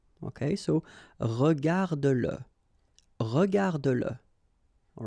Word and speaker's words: regarde-le: Remember that if you've got, in some situations, the pronoun le, and if it comes after your verb, like in that case, then you will have to pronounce it. Okay, so regarde-le, regarde-le, all right, regarde-le.